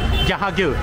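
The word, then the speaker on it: Jahangir: How do you pronounce this? Jahagir.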